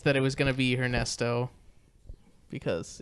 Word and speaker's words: Ernesto: Or Ernesto, I'm sorry. You're not supposed to pronounce the H.